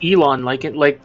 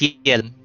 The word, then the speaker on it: Yelan: Sorry, I keep thinking of pronouncing her name in Chinese. Uh, I thought it Brain. was Elon, No, like the billionaire. no, it's Yelan. This is actually a pronunciation.